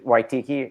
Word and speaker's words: Waititi: Yeah, Waititi.